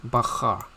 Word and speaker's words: בחר: Okay, bahar. So this is one of the first time we'll be introducing the alphabet Bet. So B or V. So in this case, it is pronounced as B. Bahar.